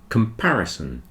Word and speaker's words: comparison: comparison between the sizes if you listen to the word comparison you'll see that the second syllable is stressed the second syllable is